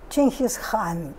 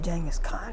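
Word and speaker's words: Genghis Khan: course of jenga's Kahn his real name would have been pronounced King his hon but we're just gonna say Jenga scar because it's it's more our ears more used to it he was born in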